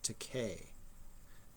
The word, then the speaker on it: Takei: trek and that is george takei rhymes with okay um so the book the graphic novel is called they called us enemy so george takei uh was born in